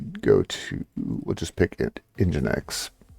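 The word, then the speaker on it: nginx: to we'll just pick engine X which for the longest time I pronounced as en enics so there you go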